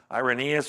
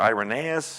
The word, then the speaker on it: Irenaeus: then let me get to another page oh irenaeus or irenaeus however you want to pronounce that is can be pronounced both ways